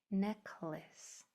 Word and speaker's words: necklace: This A is pronounced as an I. Necklace.